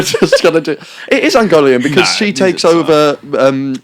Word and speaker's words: Ungoliant: No, it's not. That's not how you pronounce it. How do I know? I don't know. It's Ungolian.